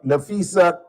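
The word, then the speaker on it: Napheesa Collier: Well, you'll hear from Nafisa. Am I pronouncing that right?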